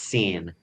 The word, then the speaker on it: Syn: One of the main characters' name is Syn. It's pronounced that way. It actually says that very early on, but it's spelled Syn, because he just wants to be hidden, but his name is Syn.